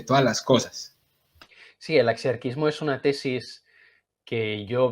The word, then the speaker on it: axiarquismo: Una cosa rara llamada el axiarquismo. ¿Sí o no? ¿Se pronuncia así? ¿Axiarquismo? Muy Sí. bien.